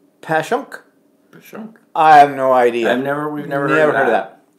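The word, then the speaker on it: Passyunk: Pashyunk is pronounced Pashunk.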